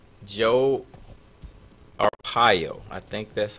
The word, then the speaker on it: Arpaio: Joe Arpaio. I think that's how Yeah. it's pronounced.